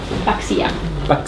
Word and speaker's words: Paxia: Paxia. Proprio mettere un accento sulla I.